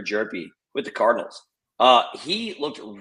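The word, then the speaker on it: Hjerpe: So number 12 here is Cooper Jerpy, spelled with an H, Cooper Jerpy, with the Cardinals.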